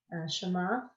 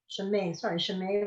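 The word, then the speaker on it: שְׁמֵהּ: Shema Rabbah, Nuh-uh. 2 dots. Shemay Rabbah, Good.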